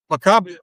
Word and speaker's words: Macabre: He hawked his house, he borrowed what money he could, and he made a film called Macabre. Or Macab, however you want to pronounce it.